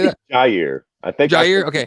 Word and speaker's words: Jair: Francis Ngannou taking on Yair. Yair. I keep fucking that up. Or Jair. Anyone want to say that? Jair. I think okay. I think you pronounced the J.